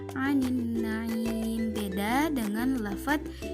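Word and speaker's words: عَنِ النَّعِيمِ: anin naim di sini alif lamnya dibaca tidak jelas karena apa? Alif lam di sana bertemu dengan salah satu huruf asyamsiyah yaitu nun, maka dibacanya anin naim.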